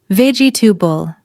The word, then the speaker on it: vegetable: Many people pronounce every syllable, but native speakers usually say ve-gi-ta-ble. Notice, it sounds shorter and smoother.